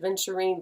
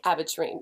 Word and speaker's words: aventurine: Some people call it adventurine, but it's not spelled like adventure, so I don't say that. But pink aventurine.